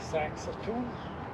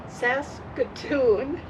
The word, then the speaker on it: Saskatoon: We're at a nice campground in the city of Saxaton. Pretty close. Sax S. I'm going to say it like you. Sas Saskatoon, Saskatchewan.